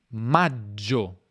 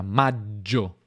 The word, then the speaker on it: maggio: forte marzo con marzo aprile maggio quindi una doppia maggio maggio giugno anche g n